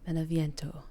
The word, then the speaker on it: Beneviento: Apologies if I mispronounced Donna's last name. Beneviento.